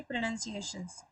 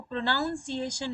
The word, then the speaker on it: pronunciation: और आज हम सीखेंगे प्रोनंसिएशन जी हां मैंने अभी जो बोला आपको यह है प्रोनंसिएशन इसको प्रोनाउंस एशन नहीं पढ़ते हैं और इसका मीनिंग होता